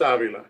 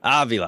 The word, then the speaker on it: Avila: How do you pronounce it? It's Avila. Avila.